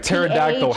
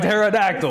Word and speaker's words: pterodactyl: And then like pterodactyl has a P. Exactly. Why is there a P in pterodactyl?